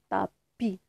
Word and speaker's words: tapis: S, c'est une lettre muette. Ça se prononce pas. Elle a fait du feu sur le tapis.